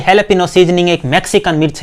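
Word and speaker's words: jalapeño: दोस्तों इसकी स्पेलिंग को देखकर आप इसे जैलापिनो ना पढ़ें, ये हैलापिनो सीजनिंग एक मैक्सिकन मिर्च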